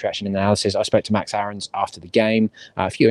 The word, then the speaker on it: Aarons: people saying this correctly because that's how we pronounce it so from now on it is max aarons um and there was a bit of news